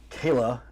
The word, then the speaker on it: Chela: Kayla, I know it's spelled Chela. Yes. But it's said Kayla, and I had to figure that out.